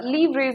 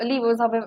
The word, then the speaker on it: livres: Okay, so livres or livres, however you may want to pronounce it, this was an old French currency.